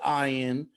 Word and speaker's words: Ian: the 90s ian zering it is spelled ian but he pronounces it i in from 90210 in the